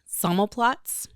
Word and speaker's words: Sammelplatz: I have named the business Sammelplatz. Say it again. Sammelplatz. It is. Spell it.